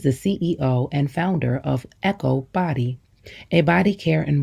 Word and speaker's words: EKOW: what they need e k o w is pronounced Echo and means boy born on Thursday in the